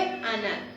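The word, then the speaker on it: עָנָן: Y como nube, anal, significa en hebreo, acento en la segunda A, como cubierto el cielo, nubes de tormenta.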